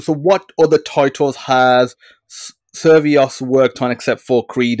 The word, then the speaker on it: Survios: So you work, how do you pronounce the company? Survios? I always get Uh, it wrong. it's Survios.